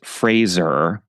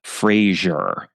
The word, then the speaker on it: Fraser: I learned recently that the correct pronunciation of his last name is Fraser, not Frasier, which is how I had always been pronouncing it.